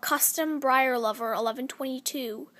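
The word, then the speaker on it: CMBriarLover1122: A lot of people pronounce my name C.M. Briar Lover 1122. Guys, please, as if it's spelt Custom Briar Lover 1122, please say it that way, because it annoys me that you don't say my name right.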